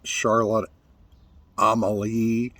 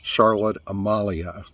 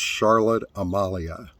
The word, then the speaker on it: Charlotte Amalie: Saint Thomas is not Charlotte Amalie the locals pronounce it Charlotte Amalia so just know if you want to go to largest city for dinner or for shopping it's Charlotte Amalia prices well folks brace